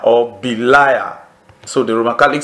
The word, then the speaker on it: Belial: we spelled it as B-E-L-I-A-L, but the Roman Catholics, even though they spell it that way too, they also spell it this way too, B-E-L-I-A-R, Belial, because of the pronunciation.